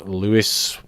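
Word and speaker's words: Lewes: we've got blackburn nil lose louis yeah that's how you pronounce it free so blackburn nil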